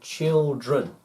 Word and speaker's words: children: And children. So it's R-E-N. Child, children. And they wouldn't say child run. Not child run, but child, and children. Also the D is silent as well.